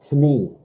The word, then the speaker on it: Knie: Knie. Just make that I. You have to have the I to make an E sound. But in German, you got to pronounce the K and the N, yeah?